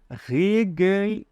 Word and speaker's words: regelmäßig: Como que a gente pronuncia? Regelmäßig.